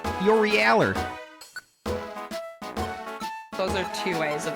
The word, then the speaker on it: Yorialu: Yeah, if you're going to pronounce her name correctly, it has to be Yorieler. Yorieler.